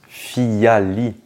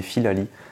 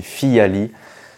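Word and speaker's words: Phyllali: prononce fiali ou Filali et bien il se prononce fiali et oui moi je le prononçais mal depuis tout ce temps je disais Filali non c'est fiali euh FIA ça vient de feuille en latin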